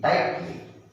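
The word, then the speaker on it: tightly: यहां पर कौन चुपचाप है? कौन है चुपचाप? यस. GH. चुपचाप है, साइलेंट है ना. उसको उच्चारण नहीं करना है. No need to pronunciate. TI क्या हुआ? टाई है ना. टाइटली.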